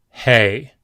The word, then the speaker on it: Hey: Hey. Hey is the H sound, as in he or him.